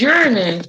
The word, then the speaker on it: Uranus: Uranus started the day off, and it's Uranus. That's how they say it on Sailor Moon, and that's how Neil deGrasse Tyson says it.